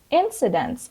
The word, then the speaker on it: incident: with another color incidents incidents of course the base form of this word is incident and the stress is on the first syab incident and it means events